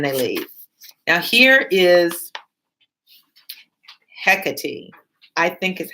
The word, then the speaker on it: Hecate: It's spelled with a K as in Hecate, and the name is pronounced Hecate.